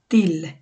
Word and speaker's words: till: যেমন তাকানো, যে তটা ওইভাবে, সো এটা টিল হবে না, এটা হবে তিল।